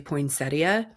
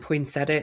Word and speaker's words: poinsettia: like you know the the pronunciation of poinsetta is actually poinsettia and poinsetta is the accepted um pronunciation taking this in a whole different direction.